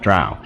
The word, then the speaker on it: drow: got Geiger said yes it's pronounced Dro not drow and but we had